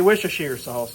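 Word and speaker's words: Worcestershire sauce: There's also, depending on where you're from, you're going to pronounce this a little different. We say wish sauce down here in Louisiana.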